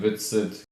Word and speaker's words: Whitsett: My last name is Whitsett, but it's spelled with an H and a T that are silent.